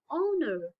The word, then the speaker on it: honor: have to use and while this h will sound like a vowel such as an owner will not say honor that time it will be wrong pronunciation it will be what an honor an hour an honest man so whenever you release